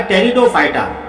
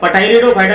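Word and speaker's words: Pteridophyta: लेकिन अब ये तीसरा जो हिस्सा है यहाँ पे जैली आलम का, टेरिडोफाइटा, ये पी यहाँ पे साइलेंट है, इसको टेरिडोफाइटा कहते हैं, पटाइरिडोफाइटा नहीं बोलते, टेरिडोफाइटा कहते हैं इसको।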